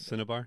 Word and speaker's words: Cinnabar: Is it Cinnabar?